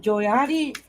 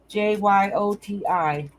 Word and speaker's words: Jyoti: How do you say it? Is it Joyati? Kashan, am I saying that right, honey? She'll correct me if I'm saying it wrong. Jyoti. Thank you, hon.